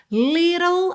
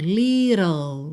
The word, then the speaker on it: little: Little, a gente tem oã e depois o L direto. Little.